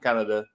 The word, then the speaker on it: Canada: no offensive coordinator, Matt Canada. I think that's how you pronounce it. It's spelt like the country, so I'll pronounce it like that.